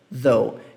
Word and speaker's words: though: Faz o TH e fala though. Esse GH do final você nem pronuncia. Tudo bem? Ele nem é pronunciado. Ele tá aqui, mas não é pronunciado.